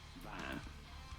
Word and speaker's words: van: But rather in Dutch they say van. Van. Shorter with a more open A sound.